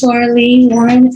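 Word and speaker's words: Lara Le Warren: Could you state your name and spell it for the record? Okay. My name is Laura Lee Warren.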